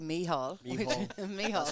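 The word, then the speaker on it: Mícheál: say michael carmel uh i could say meehau which is great gaelic irish yeah so i've had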